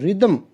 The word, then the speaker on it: rhythm: vowel sound for example the word rhythm itself has two syllables it does not contain any vowels but it is pronounced with two vowel sounds therefore spelling is not